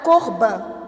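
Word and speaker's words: קרבן: E ele quando vai falar sobre a palavra sacrifício lá no Antigo Testamento, ele diz o seguinte: "A palavra para sacrifício é pronunciada corban".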